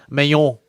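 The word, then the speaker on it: Manon: to 125 to fight Manion Farrow on her home soil. This is a big deal for Manion. She wins this. Mayon, as would be her French pronunciation of that name.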